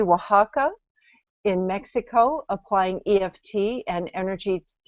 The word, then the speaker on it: Oaxaca: And she also volunteers at a children's cancer center wing in, to pronounce it correctly, Oaxaca, in Mexico, applying EFT and energy techniques to